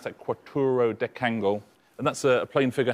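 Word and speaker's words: quattuordecangle: Quattro decangle. That's how you pronounce that, quattro decangle.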